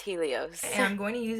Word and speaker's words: Helios: is the first step this is the ghd hellos professional hairstyler i literally knew i would end up mispronouncing this it's pronounced helios and i'm going to use it just to